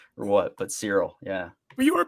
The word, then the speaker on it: Cyril: When you say his name, it sounds like Cereal Boy, and I thought that's what you were calling him because he was always eating cereal. No, it's just Cyril.